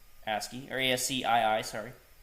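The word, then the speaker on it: ASCII: originally and and guys this word is uh pronounced asky or asc2 asky or ASC I I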